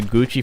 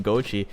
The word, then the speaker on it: Gucci: these guys changed my change my vocabulary to gucci from gochi well thank you for that you definitely uh